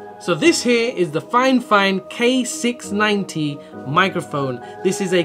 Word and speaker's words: FiFine: i've double triple checked it it is actually pronounced fine fine but it's spelt 50.